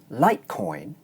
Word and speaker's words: Litecoin: In 'litecoin' the diphthong /ɔɪ/ is pronounced long because it's followed by the voiced consonant sound /n/.